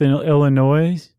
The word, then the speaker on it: Illinois: Followed by Monmouth, Illinois. I forgot the S is silent.